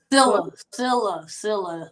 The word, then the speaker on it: Sillia: Sillia. The last I is silent, so it's pronounced Sillia.